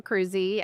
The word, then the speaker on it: Cruzy: So just think about it as cruising in a car, and then just put a long E at the end. So Cruzy.